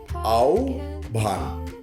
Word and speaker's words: আহ্বান: আহ্বান, এভাবে ভুল করে থাকে অনেকে। উচ্চারণটি, সঠিক উচ্চারণটি হবে আও ভান। বানানটা এরকম, আ ও ভয় আকার ন, আও ভান।